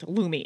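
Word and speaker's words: Lume: Wow, that's spelled L-U-M-E because it's a little confusing with how you say it and how it's spelled. Lumi, L-U-M-E.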